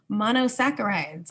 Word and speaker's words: monosaccharides: still ends in ose monosaccharides are the monomer of carbohydrates mono means one saccharide means sugar and there's that CH again that sounds like a k always science words when